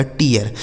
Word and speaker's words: tear: TEAR, तो टी से हो गया ट, इस ई ए का उच्चारण ई, आर से हो गया र, लिखा गया टीयर।